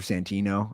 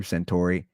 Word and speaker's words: Santino: here's the thing you brought up uh Andrew Santino I don't know why you said his name wrong Andrew santor Andrew used to be one of my good